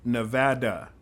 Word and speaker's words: Nevada: now if you're listening it's pronounced Nevada not no I can't even say it nada du we're not